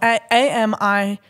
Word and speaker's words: Amigon: So this is spelled A-M-I-G-O-N.